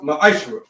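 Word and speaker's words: מעשר: It means tenth in Hebrew, and it's pronounced ma'ashra.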